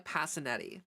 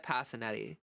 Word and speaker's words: Passinetti: And Passinetti, that's how you say my last name.